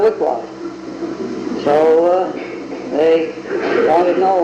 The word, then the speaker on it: Wicwas: Well, the Grange and the papers had gone through, so it's always been Wicwas, W-I-C-W-A-S.